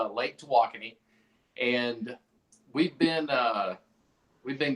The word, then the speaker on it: Tawakoni: give us a background so we're at Lake to walking and that's how you pronounce it we go all over the state